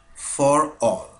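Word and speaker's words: ∀: এই জিনিসটার উচ্চারণ হচ্ছে, বা ম্যাথমেটিশিয়ান এটাকে উচ্চারণ করে ফর অল।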